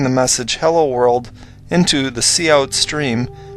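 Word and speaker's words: cout: work in this program cou t is pronounced C out and it is the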